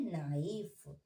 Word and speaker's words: knife: KNIFE, तो हम इसे पढ़ते हैं नाइफ, ओके। इसमें के साइलेंट होता है।